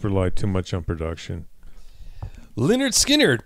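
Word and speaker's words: Lynyrd Skynyrd: on he almost relied too much on production Leonard skinnard pronounce Leonard skinnard I know again a goofy anyway it's uh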